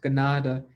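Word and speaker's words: kanata: it's actually a mispronounced uh mohawk word uh ganada which means village so um when people say i am from canada they're mispronouncing a word from our own people which is pronounced gennada and that means a village so everybody that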